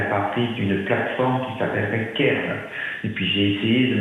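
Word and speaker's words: Cairn: Donc, Alors, Kern, ça s'écrit C-A-I-R-N.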